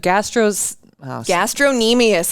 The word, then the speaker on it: gastrocnemius: The Gastrocnemius. I looked it up before we came in. It's the C in there. Yep, it's silent. That throws you off. The C is silent.